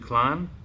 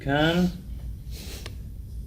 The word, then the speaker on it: Keihin: how do you pronounce the name of this carburetor, the brand? Is it Klein? What is it? No, try again. I'm just trying to trigger everybody in the comments for video engagement. Kein.